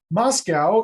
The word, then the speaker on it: MoSCoW: because it's the easiest moscow is a focronym a fake acronym mscw with two vowels thrown in just so we can pronounce it and the letters stand